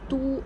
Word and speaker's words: 都: Do or do according to different context. As do, it means or, both. Du, capital city. Or Chinese surname.